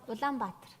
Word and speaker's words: Улаанбаатар: 울란바토르 어떻게 발음합니까? Улаанбаатар. 울란바토르 발음 틀렸죠? 맞는데요.